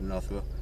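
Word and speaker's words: North Roe: Yeah, North Row.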